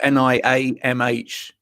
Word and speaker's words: Niamh: And I got Neve right, yes? Yes. Yeah. Perfect. You see, it's spelled Niamh, but Niam.